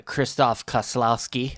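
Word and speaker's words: Krzysztof Kieślowski: the uh Polish films the big uh uh Kristoff Kaslowski.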